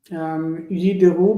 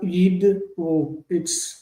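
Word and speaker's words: יִדְּרוּ: Yideru, because it's not yidru, it's yin de-ru, and so the nun is missing, and so like yizbehu, not yiz, like you have to pronounce the be.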